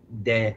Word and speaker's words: de: King Ken and Thy Martyrs de Lithium Lagoon. De as in D in Spanish.